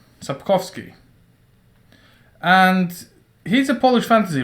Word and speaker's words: Sapkowski: so actually the guy who made all of this uh well let me try to actually pronounce his name andrei sapovsky sapkowski and he's a polish fantasy writer and basically